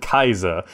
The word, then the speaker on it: Caesar: guys welcome back to Caesar 3 or some people people pronounce it Kaiser Kaiser 3 anyway if